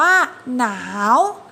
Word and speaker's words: หนาว: สอง คือ อ่าน ออก เสียง แค่ 1 พยางค์ เท่า นั้น ก็ คือ คำ ว่า หนาว อ่าน ว่า หนาว เหรียญ ห่าน ว่า เหรียญ